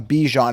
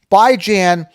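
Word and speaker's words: Bijan: not pronouncing it right I am by as in by weekly bi I and Jan as in Rand as in tan okay very easy anyone calling him bejon is incorrect okay even his mom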